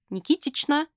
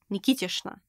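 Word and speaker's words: Никитична: Usually it's pronounced with sh instead of ch, not Nikitichna, but Nikitishna.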